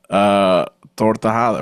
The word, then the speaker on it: Tortajada: Tortajada, right? Is that how I said it right? I always think there's like an L or extra letter. No, you did it perfect.